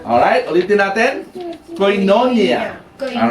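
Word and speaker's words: koinonia: Sabi diyan sa Hebrews 10:25, "Ang Greek word na ginamit dito sa fellowship ay coinonia." Alr ulitin natin. Coinonia. All right. Yan ang pronunciation niya. Nailagay ko sa baba. Coinonya.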